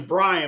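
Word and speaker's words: Brien: My name is Brian, but it's spelled B R I E N. And I hate when people dis can't pronounce it correctly.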